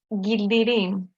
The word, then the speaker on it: Gildirim: Gildirim. It's a bit difficult. You can pronounce it like in Turkish, Gildirim. Yeah. Like, okay. Giltirim.